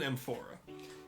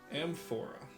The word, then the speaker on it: amphora: It's not called an aorta. It's called an empora. So, I will draw I'll spell that for you guys. Amphora.